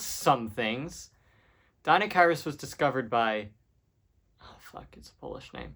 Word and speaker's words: Deinocheirus: All right, so next up is Deinocheirus, meaning terrible hand. Which I somehow thought was pronounced Dinocheirus, like it was some sort of British gentleman. Deinocheirus was a weird dinosaur